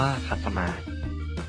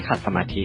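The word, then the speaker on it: ขัดสมาส: คำ นี้ ขัด สมาส ต้อง อ่าน ว่า ขัด สมาส ไม่ ใช่ ขัด สมาธิ นะ ครับ คำ ที่ 10 คำ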